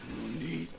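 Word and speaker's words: なに: You don't say nanny, you say nani.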